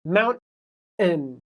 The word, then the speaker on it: mountain: So the T is where you stop mountain and then you let it go. So mountain mountain actually sounds like mountain and you hear that n sound at the end.